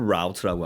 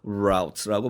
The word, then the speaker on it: route: 경로를 route라고 하죠. route 이렇게 발음할 수도 있고요. route라고 발음할 수도 있습니다.